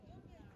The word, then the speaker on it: Cunda: We also live in Ayvalik on the island of Cunda (It’s pronounced as Junda) in one of the modern holiday villages. But now I will show you the tourist part of Cunda this is the historical